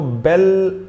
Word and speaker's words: belle: एंड the same formulation, इसको अगर पढ़ते तो बेले पढ़ सकते थे, बेल्ले मत पढ़िएगा, जो होता ही नहीं है। Pronunciation बेल। A beautiful girl or a woman is supposed to be a belle.